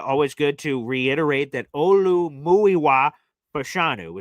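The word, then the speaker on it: Olumuyiwa Fashanu: Olu Muiwa Pashanu is how we pronounce our left tackle's name.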